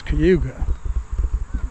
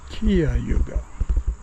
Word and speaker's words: Cuyahoga: and she said well if you're local it's kuga if you're not local then it's Kia Yugo something along those lines so Toe Path Trail